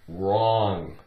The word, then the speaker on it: wrong: style washing machines okay we have the word wrong take away the w r on om makes